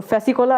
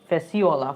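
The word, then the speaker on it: Fasciola: ওকে, ফ্যাসিকোলা, ফ্যাসিকোলা, ফ্যাসিকোলা, আচ্ছা, আরে না রে ভাই, ভুল হচ্ছে, ফ্যাসিকোলা, ফ্যাসিওকলা, ফ্যাসিওলা, ফ্যাসিওলা, ফ্যাসিকোলা বলেছি, ফ্যাসিওলা, সরি উচ্চারণটা ভুল হয়ে গেছে, ফ্যাসিওলা, ফ্যাসিওলা টিনিয়া।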